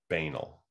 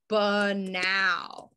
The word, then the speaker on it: banal: on in terms of how he pronounced this as banal okay um and then i explained how she pronounces it which is correctly um which is buh now and i googled all